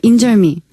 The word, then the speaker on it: 인절미: 그리고 리을 발음. 예를 들면 인절미.